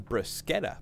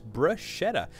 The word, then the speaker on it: bruschetta: Today I'm going to make for you some bruschetta, more commonly mispronounced as bruschetta, my wife's absolute favorite snack.